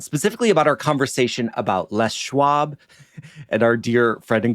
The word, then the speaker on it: Les Schwab: about our conversation about Les Schwab and our dear friend and colleague Julia who admitted courageously that she used to pronounce it lewab.